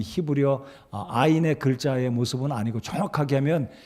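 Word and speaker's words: עין: 그래서 오늘은 16번째 히브리어 알파벳 아인이 되겠습니다. 아인. 이 아인이란 말은 동그라미, 아 발음이지 않습니까?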